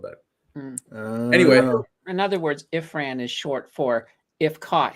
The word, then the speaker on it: Ifran: is it ifram or imran ifran if sorry ifran if ran how do you spell that i-f-r-a-n okay if friend so he probably